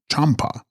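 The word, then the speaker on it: Byams-pa: And text, Byamspa, pronounced Champa, Sanskrit Maitreya, love the Buddha to come, who will reform mankind through the power of divine love.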